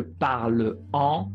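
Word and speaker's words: parles-en: Attention, le S revient ici pour la prononciation, puisque parle-en, c'est un peu bizarre à dire. Parle-en, parlant, c'est bizarre, c'est pas facile, pas très joli. Donc on dit parle-en pour la prononciation.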